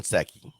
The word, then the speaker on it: Psaki: It's President Biden because the P is silent, like Seki. Jen Psaki. The P is silent. It's like saying pneumatic.